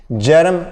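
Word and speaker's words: Bjerrum: उसको हम कहते हैं जेरम स्कोटोमा। बी से स्टार्ट होता है, बी साइलेंट होता है, जेरम स्कोटोमा।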